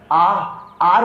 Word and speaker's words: hour: मेरे साथ प्रोनाउंसिएशन करो अभी, जस्ट आर बोलते हैं, आर 2 आवर्स, 10 आवर्स, 3 आवर्स, 5 आवर्स, आवर्स बोलते हैं आर।